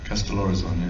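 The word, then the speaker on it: Kastellorizo: So, Castellorizon, do you pronounce it like that? Castellorizon, yes.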